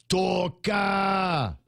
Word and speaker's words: Toka: I've never in my life heard the word Toka. I've heard Toka. You got to drag out the syllables there.